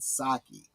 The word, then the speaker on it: sake: Or, of course, it would be pronounced in the American saki.